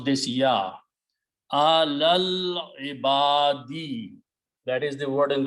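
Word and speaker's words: عَلَى الْعِبَادِ: You combine this lam with this lam and do not pronounce the alif in between, which becomes hamzatul wasl, a small swad, which means don't pronounce.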